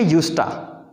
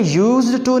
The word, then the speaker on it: used to: टू को भी जब तेज़ी से पढ़ते हैं तो ट पढ़ते हैं, तो ये बन जाएगा यूस्टा। यूस्टा मैं एक दफ़ा फिर प्रोनाउंस कर देता हूँ, इसे यूज्ड टू नहीं कहना, वैसे भी कहा नहीं जा रहा।